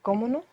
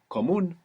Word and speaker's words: común: Is it comuno? Comono. Común. Ah. So there's no way to know that. Comuno or común? Común. Común. Común with the accent on the end.